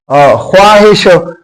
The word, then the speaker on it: خواہش: کا یہ صحیح ہے، لیکن پھر سامنے جو لفظ ہے بولنے کا تلفظ کا انداز ہم اس میں بھی وہ سائلنٹ ہے، ساکن ہے، بولنے میں نہیں آتا، لکھنے میں آتا ہے.